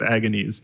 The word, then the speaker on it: Agones: totally okay with us mispronouncing it as Agony's which is is good because that's what it looks like it's a cool project